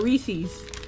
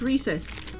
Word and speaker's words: Reese's: Reese's recess all right tell me is it recess or is it Reese's a lot of people say it's recess the word recess is